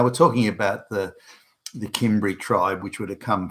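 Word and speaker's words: Cimbri: kimry tribe CB that the kimry tribe simri you can also pronounce it as that kicked off a chain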